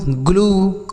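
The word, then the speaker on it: glue: तो अगर यू के साथ ई लिखा हो तो बड़ाऊ की मात्रा का उच्चारण होगा, जैसे true, ब्लू, ग्लू, क्लू, crew.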